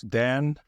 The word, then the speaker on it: Dan: So, for example, the way that I pronounce Dan, Whisper often interprets that as D-E-N instead of D-A-N, and some names of my services and things like that.